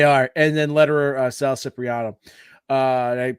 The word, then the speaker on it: Cipriano: And then letterer Sal Cipriano. Did I pronounce that correctly?